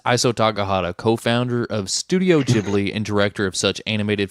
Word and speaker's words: Ghibli: news, which is the passing of I can't pronounce his name. Takahata. Iso Takahata, the co-founder of Studio Ghibli.